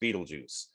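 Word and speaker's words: Betelgeuse: aldevron um Sirius uh Beetlejuice yes Beetlejuice it's not spelled like Beetlejuice but it's pronounced Beetlejuice um rigel um these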